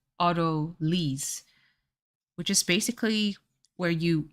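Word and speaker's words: autolyse: you do orderly oh in French it's otolis so it's Auto lease which is basically where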